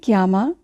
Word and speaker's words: chiama: কিয়ামা শব্দটির বানানের দিকে যদি খেয়াল করি, তাহলে আমরা দেখব CHI অর্থাৎ চি আক্কা ইয়ের উচ্চারণ হবে কি এর মতো।